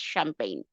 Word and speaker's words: champagne: And of course, people who obviously know French, they will never pronounce this like champagne. They will always pronounce this as champagne. So it is champagne, it is not champagne.